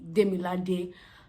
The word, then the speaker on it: Demilade: It's actually Demilade. However, people call me Demi because it's spelled Demi, but you know.